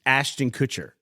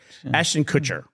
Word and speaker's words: Kutcher: It was Ashton Kutcher. Oh, whose name I always pronounce correctly.